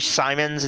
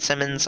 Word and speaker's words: Simons: number for Agent Walton Simmons, my contact at Wallace, my handler. I'm sorry, it's actually Simons, it's not Simmons. I apologize, I was mispronouncing that, but it's Simons.